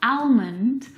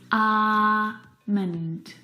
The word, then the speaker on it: almond: comfortable this afternoon Armond now in this word the L is silent it's not almond or almond it's alond alond Armond alond I'm